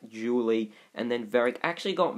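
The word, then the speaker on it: Zhu Li: is julie or like zuli it's but like with a z but i think it's pronounced julie and then very actually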